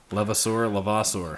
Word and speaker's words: Levasseur: We're back in the garage, and we got Levasseur. Is that how you pronounce it? Yes, it is. Yep. Levasseur.